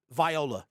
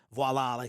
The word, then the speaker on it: voila: He entered it and Viola, it was gone. And I know that's not how you say it. I just like, instead of saying voila, I like saying Viola, as in Viola Davis.